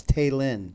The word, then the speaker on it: Taylin: So it's Taylin. It's Taylin. Okay. What were you saying I think before? I've been calling her Taylin.